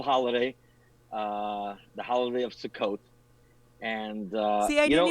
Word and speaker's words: Sukkot: pronunciation well you know if you're speaking about an individual sukkah plural it's sukkot so you did just